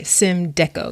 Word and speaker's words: Symdeko: Make sure I'm pronouncing this right. Symdeko.